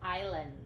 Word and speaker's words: islands: this islands or islands the s is silent it's islands islands that's right an